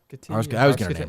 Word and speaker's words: Hargitay: Hargitay. I was getting her name wrong.